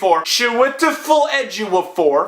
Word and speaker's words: Chiwetel Ejiofor: And, guys, I think I have the pronunciation down. I think I got it. Chiwetel Ejiofor as Baron Mordo is also really good.